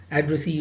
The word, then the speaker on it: addressee: For example, ee, eer, ette, que, aire, you know, if words end with any of these suffixes, mark stress on the last syllable. For example, employee, so it's ending with ee, addressee, referee, absentee, attendee, examinee, devotee.